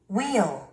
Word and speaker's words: wheel: 한국인 실수하기 쉬운 영단어 발음 110번째 시간입니다. 첫 번째 단어를 들어보시기 바랍니다. Wheel, wheel, wheel, wheel, wheel.